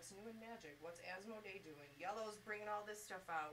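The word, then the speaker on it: IELLO: And then all of the manufacturers will come in and tell you what's new in Magic, what's Asmodee doing, Yellow's bringing all this stuff out, what are they doing for organized That's where we play?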